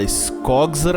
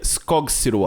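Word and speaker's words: Skogsrå: Quando alcançamos a nossa irmã, vemos ela sumindo na neblina e uma monstra chamada Skogsra. Pesquisando um pouquinho, eu descobri que o nome dela se pronuncia Skogsua.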